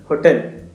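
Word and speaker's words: hotel: ऐसे ही होटल है होटल एच ओ टी ई एल कैसे प्रोनाउंस करोगे होटल होटल होगा तो ए होगा और अगर सपोज करो आप ओटल होता ओटल तो वहां पे एन होता जैसे ओनर है आर की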